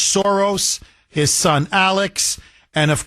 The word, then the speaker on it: Soros: Starting with archeneemy number one, George Soros as he's pronounced in Hungarian, George Soros, his son Alex, and